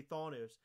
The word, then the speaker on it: Thanos: So I'm going to say Thanos, which Jeremiah actually wrote out. It's spelled THAWN-OS.